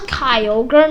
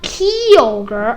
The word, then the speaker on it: Kyogre: video talking about how I pronounce Pokemon I pronounce Kyogre not Koger I like I did it with a consonant Kagra I called it Kogra freaking I was freaking dumb, wasn't I?